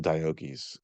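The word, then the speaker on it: Deioces: diocese is actually pronounced diokies uh they it's a hard C and so it probably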